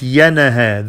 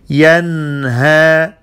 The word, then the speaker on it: ينهى: أرأيت الذي ينهى ينهى Not yanaha. There is no qalqala in the noon. Yanha.